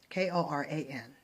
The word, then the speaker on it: Quran: from the Holy Quran incorrect pronunciation wasn't the Quran it was actually the Quran okay kor aan for the spelling and also another